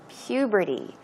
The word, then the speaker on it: puberty: And then she says, during puberty. That word is a bit difficult to pronounce. The pronunciation is puberty.